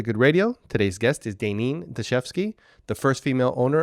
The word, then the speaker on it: Daynin: And in Hawaii, I is pronounced E. So when she spelled my name Daynin, she used the Hawaii pronunciation of E, like Daynin.